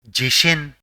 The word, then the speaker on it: 地震: is read as shin and together it is pronounced as jishin meaning earthquake which is a sudden shaking of the ground leading to damage and loss of Life.